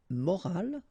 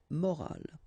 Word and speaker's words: morale: but in that case you've got this at the end, which is silent, so you don't pronounce it.